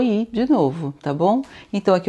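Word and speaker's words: idée: ID. Então, olha, acento agudo, som de e normal, o e do você, né? E d. Esse ezinho aqui eu não pronuncio, né?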